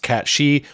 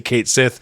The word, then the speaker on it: Cait Sith: Now, as I've already alluded to twice, technically, I know it should be pronounced Cat She, but in the remakes themselves, they just say Cait Sith because they've realized that